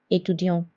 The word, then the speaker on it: étudiant: L'accent aigu is placed on E and it sounds like A like A in English. For example, débutant. Débutant means beginner. Étudiant.